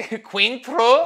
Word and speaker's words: Cointreau: How do they just say Cointreau?